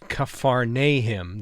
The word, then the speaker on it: Capernaum: to a place called Capernaum it's actually pronounced kuffar Nahum the village of Nahum in Hebrew both in this session and the next one to follow we're gonna stay in Kafar nee him as we take a